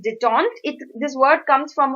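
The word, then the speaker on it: détente: DET en T e so you might pronounce it as de tante but it is de tonked it this word comes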